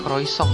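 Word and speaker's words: croissant: Oke, katanya bacanya croisong ya.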